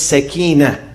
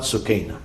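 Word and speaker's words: Sakinah: natsu cana in arabic the right pronunciation is Sakina from tranquility not tsukina many people say tsukina is not right Sakina tranquility and peace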